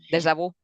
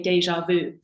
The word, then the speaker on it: déjà vu: So in English, we say déjà vu. And you say that to a French person, they're like, what did you say? And they go, déjà vu.